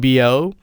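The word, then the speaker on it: 标: All I need from this story are these essential target is mu falling tone and bo first tone level as in the story where the arrow is shot straight at the same height as the target.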